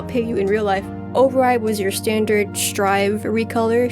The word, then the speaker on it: Ori: The prime example of this is my old baby girl Ori, not pronounced Ori, but Ori.